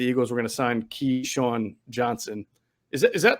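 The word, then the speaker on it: Keesean: um that the eagles were going to sign key sean johnson is that is that that's how it's pronounced right like yeah keyshawn shawn like the old that's cute sean johnson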